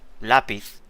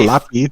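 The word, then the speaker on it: lápiz: Lapis. You see what I mean? Yeah. What? Lapis. It's not lapy. It's lapis. No, it's not lapis.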